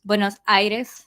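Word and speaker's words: Buenos Aires: everybody's just focused on the capital city buos buenos Iris there you go that's how you say it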